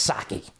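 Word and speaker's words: Psaki: because you look at Jen I know it's saki I call it p is silent not for me Jen who was one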